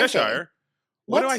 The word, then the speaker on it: Cheshire: Says it's pronounced Cheshire, not What did I say? Cheshire.